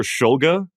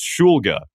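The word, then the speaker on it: Shulga: And I said, "Hey, just confirming, how do you say your last name?" Cuz you you'll you'll hear Schulga a lot. Like especially in his college career, you you heard Schulga. He was like, "It's Schulga."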